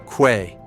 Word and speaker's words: que: The letter combination QU always sounds like K. What? Que.